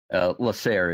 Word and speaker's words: Lasair: How do you pronounce the full name? Lasair is the last bit. DC Lasair. Okay, got it. I saw Claire the first time I said it.